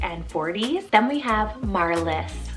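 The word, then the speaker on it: Marlys: the 20s 30s and 40s then we have marliss spell m-a-r-l-y-s marliss and this one means star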